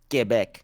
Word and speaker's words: Quebec: too she's awesome from Quebec G back is that how you say it yeah get back get back it it